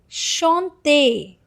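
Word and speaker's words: chantez: And now here it is shante. Shante. See the last uh and zed that is e zed is again a sound. So it is shante.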